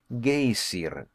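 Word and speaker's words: geyser: high above the waters the gazer a word the icelanders pronounce gazer and which signifies Fury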